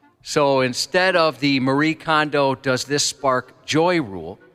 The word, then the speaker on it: Kondo: Are you guys familiar with Marie Kondo? Yes. Am I pronouncing her last name correctly?